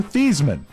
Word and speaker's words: Theismann: Before he was a player, he pronounced his name Joe Theismann and changed to rhyme with the trophy. Heisman.